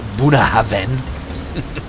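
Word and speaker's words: Bunnahabhain: glass of um well I've been told it's pronounced buah Haven Scottish of course very nice whiskey very interesting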